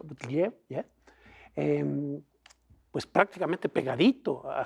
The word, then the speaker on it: Buttigieg: Nadie veía a Biden tan abajo y a Sanders tan arriba, y sobre todo a Buttigieg, así se pronuncia, Buttigieg, ¿yeah?